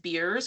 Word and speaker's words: Beers: So there's actually a a criterion called the AGS Beers criteria spelled like beers like Coors Light or something.